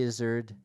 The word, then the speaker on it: Izzard: and also um Eddie Izzard and I've heard people pronounce it is Art but I'm not comfortable with that um that's where your